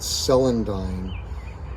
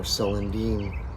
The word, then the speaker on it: Celandine: All right, so this plant here is called Celandine, or Celandine. People pronounce it different ways.